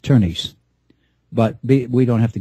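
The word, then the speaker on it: Tönnies: over the O so instead of calling it tanes t o n it's you it's you know effectively with the uml it's it's pronounced turnes but we don't have to get technical here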